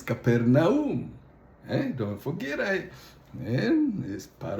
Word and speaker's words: Capernaum: And Caponium pronounced properly the way it was written in Greek is Capernaum.